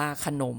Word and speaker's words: ขนม: ขนม เขียน ว่า ขนม อ่าน ว่า ขนม เหมือน มี หอ นำ เหมือน กัน เนาะ อ่า เขียน ขนม